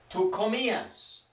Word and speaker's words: comías: For tú comías. Similar, we just add an S, keeping the accent on the I.